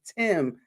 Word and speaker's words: Time: But ladies and gentlemen, this is Tim. Spell time, but it's pronounced Tim, y'all.